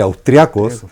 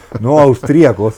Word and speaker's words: austriacos: croatas, sino que simplemente austriacos, claro, y con acento en la A, con tilde en la A, no austríacos, ¿no es cierto?